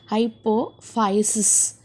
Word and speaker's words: hypophysis: Okay, pituitary gland is otherwise called as the hypophysis. Okay, ph it is pronounced as in a f. Hypophysis.